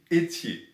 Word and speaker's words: Ethier: points next up jeremy etie i'm pronouncing it a la francaise programming three his knowledgeable